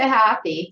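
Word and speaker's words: Hapy: How would you say that? I'd say happy. So yeah, we Happy, sort of right. said the A a little long, but yeah. Okay, so happy, right.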